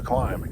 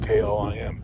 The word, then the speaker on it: KLIM: It is I don't know, probably 35, and gotta give kudos to these guys to Climb, K-L-I-M, and it's pronounced Climb, not Klim.